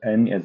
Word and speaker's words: 你: So now we can pronounce it because N is as no, and this one I is as E. So the pronunciation of the first pinyin is ni, but above the vowel we have a tongue, the third tongue, to make ni to be ni.